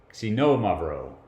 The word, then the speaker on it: Xinomavro: me now sino Amaro this is tough the accent is on the second syllable it's on the know and the X sounds like a KS really smashed together if you want to say it like a Z that's okay but if you want to say it i represent right put it as at KS c no mud row right so i'm gonna